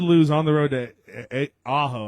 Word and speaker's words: Ajo: So ALA did lose on the road to Ajo, I think is how you say it, AJO, 54-8, and they're going to be taking Sequoia Charter on in their next game.